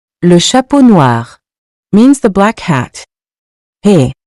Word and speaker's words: noirs: The noun here is masculine and plural, so noir becomes noir. The thing to remember is that the S is only there in writing, we don't pronounce it when speaking.